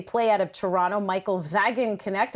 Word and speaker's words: Wagenknecht: They play out of Toronto, Michael Wagenknecht. I went with the German pronunciation there.